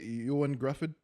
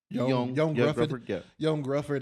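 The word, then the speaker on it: Ioan Gruffudd: But yeah, I would say uh I think I would still put uh uh how do you say Yuan Gruffford? Yan Gruffford as uh Mr.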